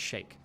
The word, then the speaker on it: Sheikh: supported, I guess, but it's not Sheikh, it's pronounced Sheikh.